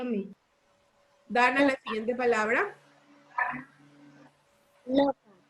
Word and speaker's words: loca: ¿Dónde lleva el acento la palabra loca, Dana? Lo. En lo, la palabra loca lleva el acento porque no es loca, ¿verdad? Sino que es loca. Loca. Lleva el acento en la sílaba lo.